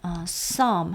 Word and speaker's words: psalm: You know, 여러분도 아시다시피 the psalmist, the psalm 하면 시편이죠. 피는 묵음이고요.